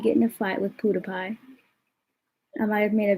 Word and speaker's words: PewDiePie: you're stupid pewdiepie i said pewdiepie learn how to pronounce it i said it though i said pewdiepie so not my fault you're deaf anyway you're